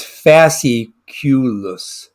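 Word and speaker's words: fasciculus: stumbling over that fest it's it's fasi coulis a CQ this is how you pronounce that so the fa remember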